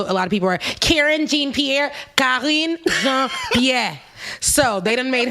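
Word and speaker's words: Karine Jean-Pierre: jean-pierre if you guys want to know the pronunciation i know a lot of people are karen jean-pierre yeah so they didn't made her the press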